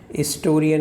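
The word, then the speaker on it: historian: हिस्टोरियन में H silent है, एन हिस्टोरिक event, तो भी वहाँ पे एन आ गया।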